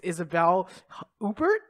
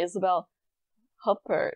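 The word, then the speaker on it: Isabelle Huppert: probably equally embarrassing way isabelle huffer now no remembering that she's french like of course you don't pronounce the t god yeah and there's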